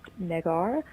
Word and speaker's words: Negar: It's spelled Negar, pronounced Negar.